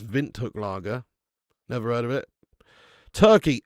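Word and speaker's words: Windhoek Lager: Yeah, it's pronounced Vint Hook Laggera.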